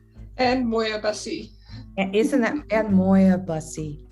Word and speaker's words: Moir-Bussy: and beautiful loving guests today we have moire i always say your name wrong can you say it real quick for me and moyabassi isn't that bad moya bussy it's a beautiful ring but i want to